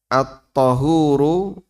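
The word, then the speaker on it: الطَّهور: Kalau dibaca at-tuhuru pakai dhamma artinya kegiatan. Kegiatan bersuci. Kalau dibaca at-tahuru pakai fathah ya. Artinya media.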